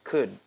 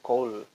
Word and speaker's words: could: Di sini tulisannya told, bacanya could. Jadi bukan call, could.